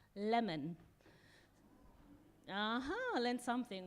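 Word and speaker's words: Lemn: learned today that actually in ethiopia his name is not lem it's pronounced lemon uh-huh learn something right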